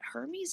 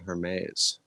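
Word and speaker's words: Hermès: in the commerce but hermes is also like a clothing line like a very expensive clothing line wait hold on i thought it was called her maze it might be but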